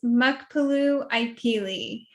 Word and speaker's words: Muckapoo Ipeelie: goodness please help me okay my name is mukpalu ikeli thank you see and i totally got and